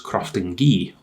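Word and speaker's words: Croftengea: this case 122 is sometimes referred to as crafting ghee which is apparently how you pronounce it i i learned that from um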